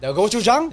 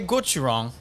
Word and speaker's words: gochujang: snap of korea okay gochujang now if you say gochurong gochujang if you say gochi wrong uh-huh um it could either mean penis oh shout out or it could mean pepper so how do you